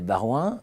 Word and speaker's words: Baroin: Daniel Barouin, bonjour. Bonjour. Aurélien Rouquet, bonjour. Bonjour. Daniel Barouin, vous êtes Senior Advisor Care1 by KPMG, je prononce bien?